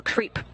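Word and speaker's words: KREEP: a weird component that we call creep and it's spelled k r e e p and stands for potassium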